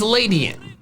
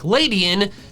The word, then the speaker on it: Ledian: First up is Ladyin. I say it like that because there are countless words in English that end in IAN that are said like Ladyin. Humanitarian, pedestrian, median, the name Ian.